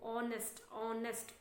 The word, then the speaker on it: honest: actually it comes oh, honest. So h is mute there, actually silent.